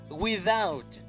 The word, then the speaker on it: without: Without, sin. Without, sin. Hay una TH en medio. Recuerda cómo pronunciar la TH con la lengua entre tus dientes y soplando.